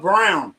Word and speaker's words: Braun: He likes to be called Brown, but his name is spelled Braun. I'm sorry. B R Au N.